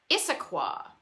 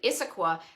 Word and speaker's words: Issaquah: here is a place i'm probably going to mispronounce issaquah that looks pretty close enough it's got two